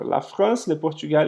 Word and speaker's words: Portugal: Então, vai ser Portugal, com esse uzinho que eu vou falar um pouquinho mais fechado aqui, e o L no final que eu pronuncio. Então, eu falo Portugal. Portugal.